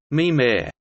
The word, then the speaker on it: Mimir: The computer, called Mimir, pronounced Mimir, is considered by some